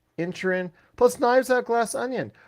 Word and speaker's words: Inisherin: I got a chance to catch The Witcher Blood Origin, The Fablemans, Banshees of Inisherin, even though it's spelled Inisherin, they say in the movie Inisherin, plus Knives Out Glass Onion.